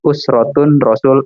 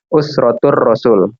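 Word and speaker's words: Usratur Rasul: Jadi kalau misalkan antum dengar usrotun rasul, itu salah besar, karena kaidahnya itu tidak boleh tanwin. ya. Jadi harus dibacanya ya sebagaimana ada alif lam gitu kan. Kalau misalnya ada alif lam kan nggak boleh tanwin kan. Usrotur Rasul gitu.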